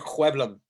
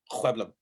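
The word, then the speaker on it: Sjöblom: Ricard Hueblum. That's how you pronounce his last name. Hueblum.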